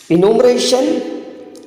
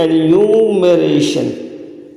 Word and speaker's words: enumeration: इनुमरेशन और स्पूनरिज्म, metonymy and सिनेक्रगी। So guys correct answer हो जाएगा एन्यूमरेशन, और इसका जो करेक्ट प्रोनाउंसिएशन होगा दोस्तों एन्यूमरेशन। क्या हो जाएगा?